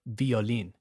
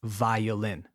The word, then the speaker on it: violin: Never violin. It's violin.